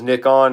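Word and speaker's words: Nikon: That it is Nickon in in England. Okay.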